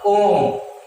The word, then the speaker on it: ओम: अब ओम का उच्चारण होता है तो इसमें बहुत समय लगेगा। कैसे बोलते हैं हम ओम को? ओ में, है ना, तो बहुत ज्यादा समय लगा है इसलिए ये प्लुत स्वर हो गया।